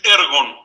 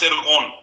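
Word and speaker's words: ἔργον: Es ergon, no es ergón, porque ergón sería con el acento en la omega.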